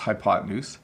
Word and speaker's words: hypotenuse: Well, it is pronounced hypotenuse, and the hypotenuse, if you have a right triangle, the hypotenuse is the side across from the 90-degree angle.